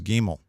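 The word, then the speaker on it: גימל: or if you see it without the dot pronounce it like a V as in van that's bait next is gimel gimel well with a dot or without spre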